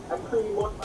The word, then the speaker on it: lacrimorexis: Lacrimorexis as it tears.